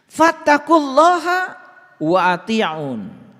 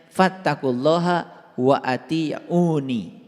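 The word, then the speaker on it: وأطيعون: Fattaqulaha wa ati'un. Nah, ini sebetulnya dibacanya harusnya fattaqulaha wa atiuni. Dibacanya harusnya begitu.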